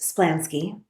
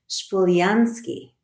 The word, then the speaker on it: Splansky: to communicate with God my family name name is today pronounced splansky but we have reason to believe that it was just three generations before me pronounced shansi the ski at the end